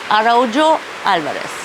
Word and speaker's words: Araujo Alvares: The name of the house, let me say it properly, Araujo Alvares.